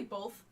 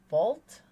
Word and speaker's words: both: Do you say it with an L or, like, both. Or like both. Oh, there's no L in both.